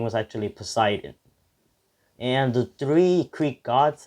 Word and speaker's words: Poseidon: in the comments that i was saying the name wrong of the god of water his name was actually poseidon and the three greek gods i'm sorry that